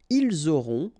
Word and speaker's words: ils auront: liaison here, vous aurez, ils auront, final T not pronounced, elles auront.